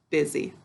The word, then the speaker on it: busy: How do we say this word to spell it? Good. Buzzy. What do we say when we're talking? Good. Busy.